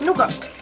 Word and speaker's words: nougat: So it's like nougat. Nougat. If you want to be proche nougat. The T is silent.